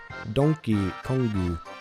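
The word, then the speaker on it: ドンキーコング: a bootleg version of how Donkey Kong is pronounced in Japanese. Donkey Kongu.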